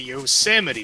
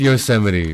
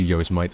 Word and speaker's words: Yosemite: Oh, it is Yosemite, right. Oops. I think Luminar even told me that at some point. I just forgot. Listen, I'm from England. Okay, we have Marmite. I see Yosemite.